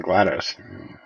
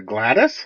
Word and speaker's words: GLaDOS: Hadees say glad glad how do you say that character's name you mean GLaDOS damn it I guess I'm the weird one I say GLaDOS I just say Gladys Gladys Glen yeah GLaDOS